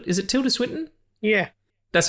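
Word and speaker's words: Tilda Swinton: with Tia switon is it t is it Tilda switon yeah that's how you pronounce it you got it right I'm just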